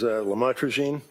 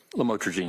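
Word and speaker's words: lamotrigine: about the u the lamel otherwise known as lamatroine. Did I pronounce that right? Lamotrograene.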